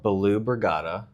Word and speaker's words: Balu Brigada: Mine is a band called Baloo Brigada. Baloo. Like Baloo from Jungle Book.